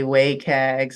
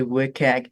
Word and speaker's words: WCAG: or some people say wayag some people say wag it's wcag and you can fill you can pronounce however but these are the